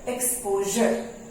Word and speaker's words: exposure: E-X-P-O-S-U-R-E is called exposure। We pronounce it exposure। S-U-R-E gives the sound Z।